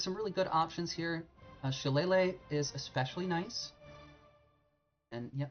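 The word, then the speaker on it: Shillelagh: spells so there's some really good options here she Lele is especially nice and yeah that's how you pronounce that that monstrosity of a name this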